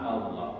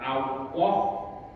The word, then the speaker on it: Allah: yang yang lain lain bacanya bukan Allah bukan Allah tapi Allah Allah Nah nanti ada ada ee pelatihan khusus karena ini agak susah jadi Allah jadi lidah kita itu ditempel Allah Allah Allah Allah